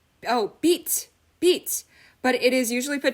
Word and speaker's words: 빛: Okay okay, someone explained, they said: "light: 빛 by itself is pronounced as 'bit' but it is usually